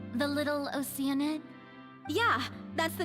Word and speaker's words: Oceanid: Did you say Oceanid? Yeah, that's how they all pronounce it. I still pronounce it Oceanid, but they all say Oceanid.